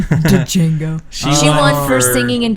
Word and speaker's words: Django: d djingo D Django the D is silent Django she won for singing